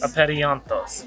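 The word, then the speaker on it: Apeiranthos: city, which is called, it's really hard to pronounce, Aperianthos? Is that right? No. What is it? I think it's Aperianthos. Aperianthos.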